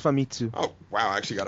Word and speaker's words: Famitsu: I've always wondered how you pronounce that. I think it's Famitsu.